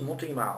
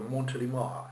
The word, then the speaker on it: Montélimar: Montélimar, c'est une ville en France, on dit Montélimar, on va pas dire Montélimar, d'accord?